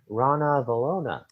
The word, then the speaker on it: Ranavalona: it's drunk yeah i'm like saying her name rana velona said it right you said it right yeah